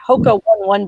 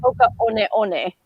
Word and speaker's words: Hoka One One: but I just recently found out I was pronouncing it wrong because I called them my Hoka 1-1 boots. Come to find out, it's actually Hoka One One.